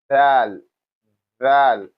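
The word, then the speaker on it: ذ: So now we have the next one which is what your tongue touches your upper teeth here like this. I believe you can get it closer to you like this. Val.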